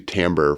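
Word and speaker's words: timbre: the second one was called Timber um was which was actually tamber for like tone quality and music yeah um but uh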